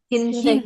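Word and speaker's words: 흰색: Bukan win loh ya. Dibacanya hin. Hinsek.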